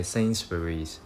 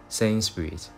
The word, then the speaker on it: Sainsbury's: 实都会将它读成是 Sainsbury's，但其实英国本地人呢很多时呢都是将它读为 Sainsbury's。